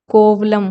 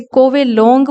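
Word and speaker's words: Kovalam: यह तमिलनाडु का एक छोटा सा गांव है कोवलम कि वहां लाइक करता है इसको फास्ट के अंदर कोवलम बीच के नाम से जानते थे ब्रिटिशर्स इसे एक्जेक्टली प्रॉब्लम प्रोनाउंस नहीं कर सकते थे वह इसे को बिलोंग प्रनाउंस करते थे इसीलिए इस बीच का नया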